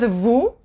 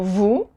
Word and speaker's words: vous: Same thing with vous, you don't pronounce the S, and OU is ou. So vous.